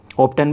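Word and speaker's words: often: क्या होता है, अक्सर, प्राय, ऑप्टन भी बोलते हैं इसे, ऑफन भी बोलते हैं ब्रिटिश अमेरिकन प्रोनाउंसिएशन में।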